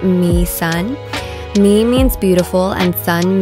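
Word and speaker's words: Mỹ Sơn: right now our tour guide was super knowledgeable we learned that my son is actually pronounced me sun me means beautiful and Sun means mountain in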